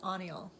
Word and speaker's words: Haniel: Um Archangel Ann uh it looks like Haniel but it's Anal like the H is silent.